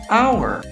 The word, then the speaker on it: hour: Então, o H, por exemplo, ele é uma consoante, mas dependendo da palavra, você não vai pronunciar ele como honor e hour.